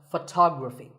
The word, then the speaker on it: photography: we say photograph but photography so the first syllable becomes F and the stress goes to the second syllable tography so Photography in